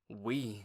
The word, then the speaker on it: Wii: Let's pronounce it like we, as in together, as in the whole family.